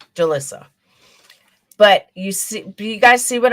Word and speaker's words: Jolissa: It's Jolise, right? I don't want to say her name wrong. Jolise. I'm thinking Jonice. It's Jolise. Jolissa? Someone help me out here. Jolissa? Jolissa. Thank you. Jolissa.